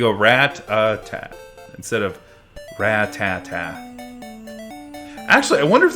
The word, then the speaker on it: Rattata: good rat attack I think I called a rat attack but even though there's no tea at the end rat uh oh so it's like rat Tata ratata Rattata that's probably how I pronounced it it's like the anime you said rat attack it's weird because you have two T's and you'd treat them as if it's just one you go rat uh instead